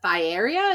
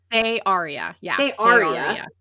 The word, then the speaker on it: Thearia: And how many books do you have planned for the Thera? Is that how I say it? Thearia. Yeah, the Earth Crown is the series name. Yeah. Listen, I was saying it right.